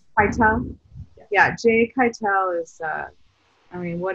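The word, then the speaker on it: Keitel: jay is amazing just quietly how do you pronounce his last name kettle kate cartel i believe i tell you yeah jay kytel is uh i mean what a he's probably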